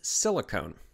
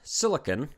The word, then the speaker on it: silicon: of course what is silicone now there is a element called silicon or silicon depending on how you pronounce it it doesn't have the e at the end silicone which we're discussing